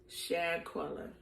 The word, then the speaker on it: Shanquella: Shanquella.